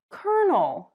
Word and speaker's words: colonel: This is spelled colonel, but it's pronounced colonel.